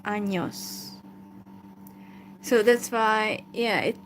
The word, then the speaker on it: años: So that letter has, a different sound. So it's not N, but it's pronounced años.